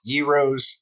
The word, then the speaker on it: gyros: I had gyros, gyros, if you want to say it right, and Funnel cakes.